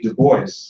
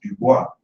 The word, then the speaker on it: Du Bois: Du Bois, we pronounce his name Du Bois, it's Dubois, but we pronounce it Du Bois, and he pronounced it that way too.